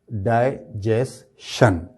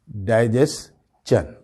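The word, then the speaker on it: digestion: तो वोह बोलते हैं डाइजेशन जबकि इसका जो सही प्रोनंसिएशन है वह है डाइजेन शन नहीं होगा चन होगा ये डाइजेस्ट चन ठीक है कैसे इसका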